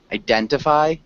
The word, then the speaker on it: identify: So if you want to be more correct, identify works, but most people would not say it. So if we're saying identify megatrends, very few people will actually enunciate the T there. So it's there in the correct pronunciation of the word, but in the common pronunciation it's not. So you won't sound strange if you just say identify, but you can say identify as well. Okay, just takes a little bit longer.